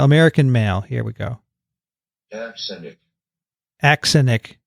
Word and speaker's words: axenic: He doesn't even have the accent on the right place. Let's try a female. Axenic. What? Axenic. She doesn't even pronounce the beginning. That's no good. Axenic. That's a British male. Axenic. It's A-X. Axenic. I like axenic. Okay. But Daniel likes Azenic. I'm going with azenic from, the use in the botanical literature.